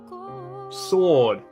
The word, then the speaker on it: sword: Sword. The W is silent.